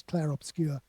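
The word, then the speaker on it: Clair Obscur: Its full title is Clare Obscure with pronounced with a French accent.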